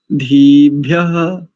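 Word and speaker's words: ओषधीभ्यः: धीभ्यः, इकार को थोड़ा सा दीर्घ कर लेंगे, धीभ्यः धीभ्यः।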